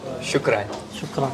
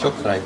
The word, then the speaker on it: شكرا: Shukran. Yes. Shukran.